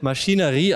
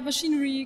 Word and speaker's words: MachineRe: uns jetzt das Spiel Maschinerie an habe ich das richtig ausgesprochen ja machinerie geht auch okay und bei mir